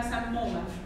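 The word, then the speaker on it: psammoma: سموما اسمها الثاني كوربورا ارينيشيا كوربورا بتاع الكور دي متكلسه كالسيوم كور كده معموله من كالسيوم الانيشيا هي كالسيفايد سكريشن البي ما بتنطقش اسمها سموما سموما برضه ممكن اسال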